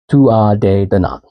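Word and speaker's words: Tuatha Dé Danann: Now, Tua de Danann is spelled Tuatha space DE space DANANN. Tua de Danann.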